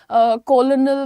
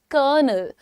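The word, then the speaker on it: colonel: Spelling देख के लोग इसके प्रोनाउंसिएशन में कंफ्यूज हो जाते हैं। कोई इसको बोलता है कोलोनल तो कोई कुछ बोलता है। लेकिन आपको मालूम है कि आर्मी की रैंक होती है कर्नल।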